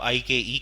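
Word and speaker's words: IKE: इसमें से एक फेज को कहा जाता है, इसको प्रोनाउंस वैसे आइक किया जाता है, आप आई के ई कह सकते हैं, आइक कह सकते हैं।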